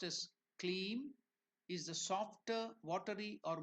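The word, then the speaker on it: kleem: is given there Mantra three clean so clean pronounced as cleam is the softer watery or more feminine aspect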